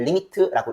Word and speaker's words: lim: 그리고 우리는 이 문장을 수학적 기호로 쓰기로 약속을 했는데, 어떻게 쓰기로 약속을 했냐면 lim이라고 일단 적습니다. lim. 그리고 읽을 때는 limit라고 읽어요. 알겠죠?